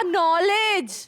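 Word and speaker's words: knowledge: नॉलेज नहीं बाबा, नॉलेज। लो, तो ये जो शेर गलत हुआ ना फिर। अगर केक बोलना नहीं तो केक को रखा क्यों? उसको छुट्टी दो। वो इसीलिए क्योंकि के साइलेंट है।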